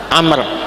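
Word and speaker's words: عمرو: ngaji nahu begitu nanti Jadi kalau nanti baca hadis ada wawya maka dibacanya apa Amr Kalau tidak ada wawya dibaca apa Umar nah yang ini Abdullah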